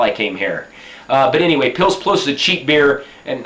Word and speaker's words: Pils Plus: It's made here in Serbia, and it's pronounced, it looks like Pils Plus, we would say in English. Serbian, they say Pils Plus, because they say U in English, we would say and they say U, like Pils Plus.